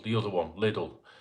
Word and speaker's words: Lidl: I don't know how you pronounce it where you lot live, but I pronounce it Lidl, right? Lidl, not Aldi, Lidl, the other one, Lidl, right?